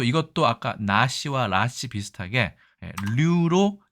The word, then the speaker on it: 류: 47위는 유씨가 아니라 류로 발음하는 버드나무 류의 류씨였습니다.